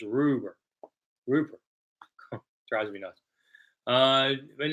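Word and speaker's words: Rubbert: I think I heard somebody say on the radio, it's Ed Rupert. The B's are pronounced like P's.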